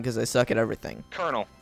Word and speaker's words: colonel: Colonel. It's pronounced colonel. It's colonel. Don't ask why.